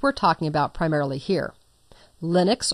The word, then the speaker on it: Linux: Linux, or Linux as it sometimes is pronounced, is also an operating